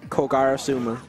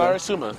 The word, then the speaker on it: Kogarasuma: Just call me Koga. No, Kogarasuma. Not hard.